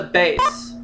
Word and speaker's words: bass: male singing wants to spell the same as a fish but it's pronounced differently what is a bass music for 600 several